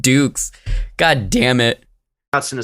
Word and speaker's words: Dux: His name is pronounced Dukes.